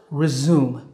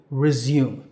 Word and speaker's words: resume: And it's pronounced resume. Re-zoom, like when you zoom your camera lens. Resume. Now that's the American pronunciation. The British pronunciation is slightly different. Resume. Re-zume, resume. So American, resume. British, resume.